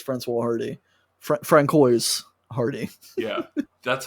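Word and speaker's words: Françoise Hardy: Francois Hardy.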